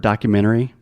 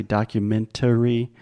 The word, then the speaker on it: documentary: If I'm speaking fast, I will almost remove the T. It's more of a stop T, and I do not say documentary. I say documentary.